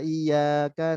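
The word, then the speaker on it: إِيَّاكَ: satu berharokat fathah Hai Nah maka kalau kita bacanya Iya Kana budu wa iyyaka nasta'in tidak Bertasbih tapi Nah kita udah mau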